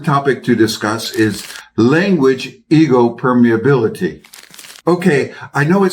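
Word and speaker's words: ἐγώ: First, the word ego, pronounced ego in Greek, in which it simply means I or me.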